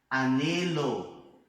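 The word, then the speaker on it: anhelo: Bom, então observa aqui que, por exemplo, se fosse no português, né, junto com a letra N teria um som diferenciado. Mas isso não acontece com a letra H. Não interessa se ela tá junto com a letra N, não interessa se ela tá junto com a letra L, não interessa. Não tem som, tá? Isso é uma coisa importante. Nunca vai ter som.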